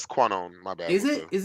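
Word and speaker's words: Kwannon: a Canon pronunciation because I always say qu it's conone I didn't know Quon yeah my bad it's quone my bad is it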